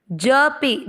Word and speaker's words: जपे: जपे, ज में अ का उच्चारण मिक्स, पे को दीर्घ, जपे।